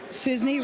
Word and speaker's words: Cisney: Cisney, rhymes with Disney, is for Bernie.